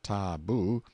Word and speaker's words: tabu: hiding places till the tabu pronounced ta-boo, means prohibition, we have borrowed it, or sacred.